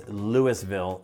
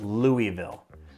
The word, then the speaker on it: Louisville: So, first things first, it's Lewisville, not Louisville.